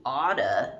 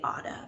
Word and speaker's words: ought to: pay attention to that when we say otta but i don't know i don't even think i use auto that much really you should the most of the time but otta is common okay so students ought